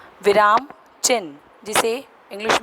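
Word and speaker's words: चिह्न: और चिन्ह, चिन्ह हम बोलते हैं चिन्ह, लेकिन ये कहा जाता है वास्तविक इसका प्रोनाउंसिएशन जो बोलने का तरीका होता है वो चिन्ह होता है। ची ह और न, जैसा कि आप चित्र में देख रहे हैं कि ची ह और नीचे न लगा हुआ है।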